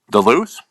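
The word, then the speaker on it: Duluth: Min wait pause it how do you say that City the loose okay thank you yes yes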